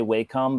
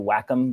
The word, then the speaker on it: Wacom: their name wrong like i always say wacom but everyone wants to whack em but uh they got